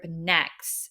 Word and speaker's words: NEXZ: debut of boy group Next it's spelled NE exz it's like next Generation it's supposed to symbolize